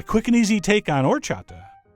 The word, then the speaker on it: horchata: and easy take on or chapter the H is silent but your guests will